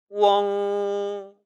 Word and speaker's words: weng: 중요한 것은 이 우엉 발음은 절대 웡 발음이 아니라는 겁니다. 한글은 웡이라는 발음이 가능하지요. 하지만 지금 보여드리는 WENG는 웡이 아니라 우 모음과 엉 모음이 합쳐진 복모음이라는 것이에요. 따라서 절대로 웡이라고 읽지 마시고 우엉, 우엉이라고 합쳐서 그것도 이름절로 읽어야 하는 것입니다.